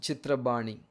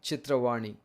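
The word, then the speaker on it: Chitrabani: communication and film institute in bengali language it is pronounced chitra bani in telugu it can be chitravani now the first of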